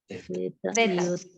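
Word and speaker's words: ζῆτα: Acuérdense que este zeta se pronuncia C, como una Zeta. Z española.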